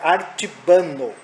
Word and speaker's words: Artibano: aquela marca Artibano mesmo, é a Artibano, que é o certo da pronúncia da marca.